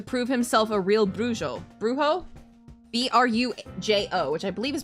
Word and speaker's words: brujo: Brujo? B-R-U-J-O, which I believe is pronounced brujo.